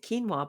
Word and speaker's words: quinoa: pronounce it no no you do pronounce it quinoa but I'm always afraid that people won't know what we're talking about because it's written so differently isn't it yeah so